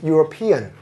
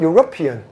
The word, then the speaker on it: European: is the European market now this word is pronounced as European now this is out out of the scope but I just want you to listen to something when you're copying now this word is not European the stress is not on rup it's on